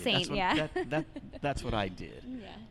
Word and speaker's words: S41NT: It's S41NT. It took me a long time to pronounce that as Saint.